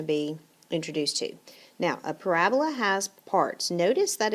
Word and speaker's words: parabola: word for the day parabola it is not parabola got to put the emphasis on the correct syllable and it is a parabola okay and a parabola